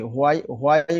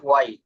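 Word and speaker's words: why: হোয়াই will you it? Okay, ওয়াই না, হর উচ্চারণ হবে না, ওয়াই।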